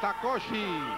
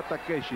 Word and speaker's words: Takeshi: Es Takoshi. Ah, Takoshi. Ah, bueno, pero en japonés se pronuncia Takeshi, doctor.